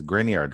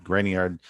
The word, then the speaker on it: Grignard: refer to organomagnesium as grignard reagents it's a very very popular name in organic chemistry grignard reagent so that g is silent are typically prepared by